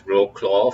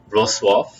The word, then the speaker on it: Wrocław: In English, you might pronounce it as Wroclaw for this place. The spellings suggest that way, but in Polish, it's Wrocław.